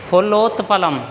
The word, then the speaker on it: फुल्लोत्पलम: तो जैसे फुल्लोत्पलम, फुल्लोत्पलम ऐसे ही बोलना है। फुल वैसे संधि विच्छेद करेंगे तो फुल प्लस उत्पलम होगा, वैसे बोलना है फुलोत्पलम।